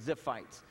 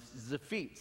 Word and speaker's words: Ziphites: the words now and zephitz is how it said all i have to do is just look at my feet and i remember how to pronounce it it's the feats and